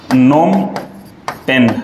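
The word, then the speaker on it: Phnom Penh: इस देश की राजधानी, तो देखिए राजधानी को लिखते कुछ इस प्रकार से है इंग्लिश में, और हम लोग इसको प्रोनाउंस करते हैं हिंदी में नोम पेन।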